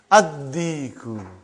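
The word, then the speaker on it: الدِّيكُ: How will you pronounce it? Ad-diku. Why? You did not pronounce lam because it is sun letter.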